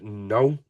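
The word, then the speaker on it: Knull: I would say his name is Null. That's with a silent K, and it's a motion capture villain.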